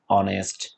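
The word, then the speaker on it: honest: কিছু শব্দ আছে যেগুলো এইচ দ্বারা প্রথমে শুরু হয় কিন্তু তারা এইচ থেকে উচ্চারিত না করে তারপরের বর্ণ থেকে উচ্চারণ করে থাকে আওয়ার ওকে আওয়ার এয়ার অনারিয়াম অনেস্ট ইত্যাদি এ ধরনের আরো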